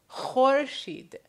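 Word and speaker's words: خورشید: So, remember, the way to produce the sound is as if you're trying to clear your throat. So, khorshid, khorshid, khorshid.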